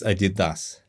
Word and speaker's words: Adidas: them they were were Adidas I don't know if if it's the correct pronunciation maybe Adidas but in Russia it's ad didas and the cap right